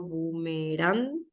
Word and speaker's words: bumerán: la voz por ejemplo bumerán es aguda carga la voz en la última si se paro sílabas